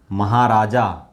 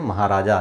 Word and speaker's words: महाराज: महाराजा, हम बहुत बार प्रोनाउंस करते हैं, उच्चारण करते हैं महाराजा, लेकिन ये महाराज।